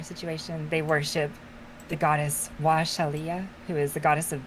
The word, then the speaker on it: Wa'Shalya: So I spelled it WA'Shalya. Washal. That's pronounced Washalia. Washalia.